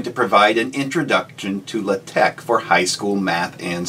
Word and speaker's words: LaTeX: Well, first off, lots of folks like to call it LaTeX, and that's fine with me, I do that half the time too, but I believe the correct pronunciation is LaTeX.